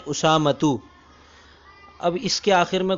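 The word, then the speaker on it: أسامة: نام کیوں نہ ہو۔ جیسے میرا نام اسامہ ہے تو عربی زبان میں اس کا تلفظ یوں ہے اسامتو۔ اب اس کے آخر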